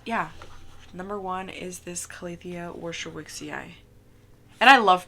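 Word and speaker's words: Calathea warscewiczii: separated it but yeah number one is this calithia worship wixie eye and I love pronouncing that the first time I pronounced it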